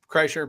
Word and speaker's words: Kreischer: Kreischer, Bert Kreischer.